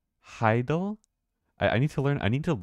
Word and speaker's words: hadal: From French Hadal, it comes from Greek Hades plus all, which means it's not loading. It's pronounced Heidel.